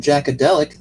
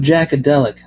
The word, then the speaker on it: Jaqadeliq: You might want to check out my cousin Jackadelic. That's spelled Jaqadeliq.